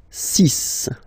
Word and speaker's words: six: And be careful here, because even if it's ending with this x, well, you'll have to pronounce it like s, s, okay? So you get the six pronunciation. Six. Six. Okay, so it's not six, it's six.